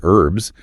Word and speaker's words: herb: Americans proudly pronounce the H in herb. I am growing herbs in my garden. While Brits tend to elide it, they drop the H entirely and say herbs, which historically aligns with